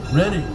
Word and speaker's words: Reading: Reading Railroad, spelled Reading but pronounced Reading.